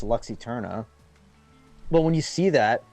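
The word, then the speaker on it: Lux Æterna: looked at it, I'm like, how do you pronounce that? Obviously, it's Luxy Turna.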